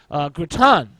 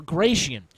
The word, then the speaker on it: Gratian: Graton, or Gratian, depending on your pronunciation, is the provincial of Romagna in Italy, and perhaps the most brilliant mind of his age.